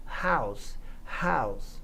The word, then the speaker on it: house: A fonética da palavra house começa com o som de H, que é esse H gutural, aspirado, que você fala, não é um R de Renato, né?